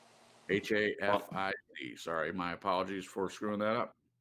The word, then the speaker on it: Hafiz: How do you pronounce that, Glenn? Hafez? Hafiz.